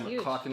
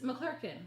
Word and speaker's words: McClurkin: In fact, they just had an alumni, and Donnie McClocken was there. Okay, I don't like the way you pronounce his name. It's not a chicken, McClocken. It's McClurkin.